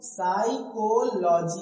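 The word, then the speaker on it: psychology: तो यहां एस आया है तो यहां पी क्या है? साइलेंट हो गया। तो इसे क्या बोलोगे? साइकोलॉजी।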